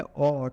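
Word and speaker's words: awe: है ए डब्लू का ए डब् ई इसका उच्चारण करते है ओ ठीक है तो इसका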